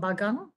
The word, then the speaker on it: bagang: So here in Sabah, it's called bagang.